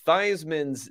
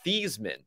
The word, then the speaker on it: Theismann: the story is that theismann's name before that was pronounced thiesman but he changed it to joe theismann to rhyme with heisman and then he didn't